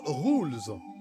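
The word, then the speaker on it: Rouxls: merci bon appétit messieurs rooks attention prononce rules c'est là que les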